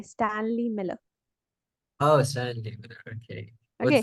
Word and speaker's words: Stanley Miller: what say say who was the scientist oh stanky Miller and stanky no there's no stanky Miller he's Stanley Miller no stinky stanky Miller how do you pronounce it s d a n l e y Stanley Miller oh Stanley Miller okay was the other one